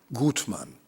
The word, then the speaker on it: Goodman: important collection of the German family Goodman and that's the right pronunciation originally from bracele which